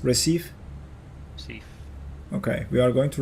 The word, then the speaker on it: Recife: Is that how it's pronounced? Recife? Recife.